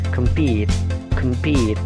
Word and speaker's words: compete: Yang ketiga, compete, jadi pitnya itu ditekan, kemnya itu kan dibaca pecel ya, kem ya, jadi singkat, kemnya singkat, compete, pitnya itu ditekankan.